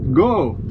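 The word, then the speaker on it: 五: reminded while in Japan, the number five is pronounced go.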